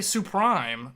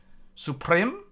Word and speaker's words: Suprim: this is this supreme is this supreme uh Supreme it can't be suprime there's no e at the end so it's not Supreme because there's an i it's an it Supreme I say Supreme I say Supreme in